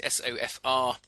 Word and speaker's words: SOFR: rate or funding rate sofr uh which when you pronounce it sounds like sofa and Sonia Sterling overnight